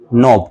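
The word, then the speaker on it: knob: तो ये जो बल्ब जैसी स्ट्रक्चर है इसका क्या नाम है, सिनेप्टिक नॉब। क्या बोलते हैं भाई इसको, सिनेप्टिक नॉब। क्या बोलते हैं, सिनेप्टिक नॉब, कनॉब नहीं, के साइलेंट है, नॉब।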